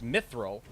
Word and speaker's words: Mithril: And I'm like, first off, no, it's Mithril. It's spelled and pronounced Mithril, like not Mithril. Like there's one I, no E's. Sometimes it's even a Y.